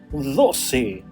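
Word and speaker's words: doce: Number 12 is written like this in Spanish and it's pronounced dosi dosi dosi.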